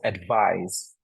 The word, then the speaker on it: advise: her doctor's advice whereas advise if it's spelled with an S you pronounce it with a the sound so advise whereas advice is a